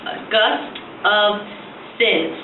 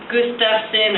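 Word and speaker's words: Gustafson: It's Gust of Sin. A lot of people pronounce it Gustafsson or Gustafsson or what, I don't know, whatever. Gust of Sin, like gust of wind.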